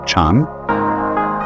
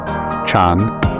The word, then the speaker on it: Chan: So then, this word Zen is Japanese way of pronouncing the Chinese word Chan, which in turn is the Chinese way of pronouncing the Sanskrit word jhana.